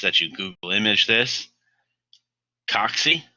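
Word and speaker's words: cocci: Coxy, that's how you pronounce that word, coxy, or coxiform is a shape that's spherical, round like a circle.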